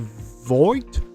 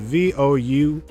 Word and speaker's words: Vought: The spinoff is confirmed, and it's called Voight Rising. I cannot pronounce it. VOUGHT. Vought Rising.